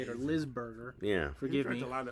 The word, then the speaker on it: Lisberger: And it was directed by Steven Leisenberger, I think is how you say it, or Lisberger.